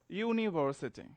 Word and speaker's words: university: practice first word you can say univer city university so you may get confused here that the